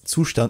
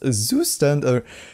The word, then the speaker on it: Zustand: uh we're gonna no I'm just kidding it's pronounced okay it's sushdan not Zoo standard I've seen a lot of pronunciations it's and